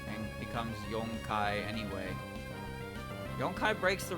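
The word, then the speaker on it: 四: Well, uh, Wagot Tabi said specifically that for is pronounced she. For can be pronounced she, but, but it's pronounced as yon whenever it's used outside of just being for.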